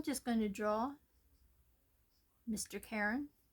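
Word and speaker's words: Charon: Karen. I think I pronounced his name wrong in the beginning and then they showed me later on that it was pronounced C as if the H was silent.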